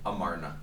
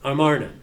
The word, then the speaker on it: Amarna: there's the armana and it's not the armana it's amran hard to pronounce this Amara yeah amarna amarna Stell which is a we